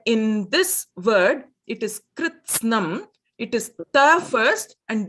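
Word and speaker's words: कृत्स्नम्: In that syllable, in that kritsnam, it is kr is a gunitaksharam. It is kr. Then it is snam. It is takaraha first, then sakaraha. Not sakaraha first and then takaraha.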